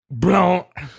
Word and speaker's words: Blount: Blount. So she was a hot mama. That word is pronounced Blount.